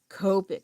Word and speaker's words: Copic: donuts, you know, like no it's the Copic. And I I was like I don't like how that sounds. I like copic. But I know like in Japanese they pronounce O sound with O.